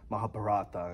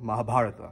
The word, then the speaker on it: Mahabharata: know, Hindu gods and Mahabharata and, you know, Mahabharata, sorry. I don't want to pronounce it in an American way.